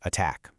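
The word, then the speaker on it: ATT&CK: And remember, that's pronounced attack.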